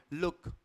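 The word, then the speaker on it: look: देख लीजिए तो इसमें जब कभी हमारा शब्द के और डी से खत्म होगा तो हम इसमें छोटे ऊ की मात्रा लगाएंगे लुक गुड कुक हुक शुक चाइल्डहुड अंडरस्टूड हमने ये नहीं कहा लूक गुड कुक हुक तो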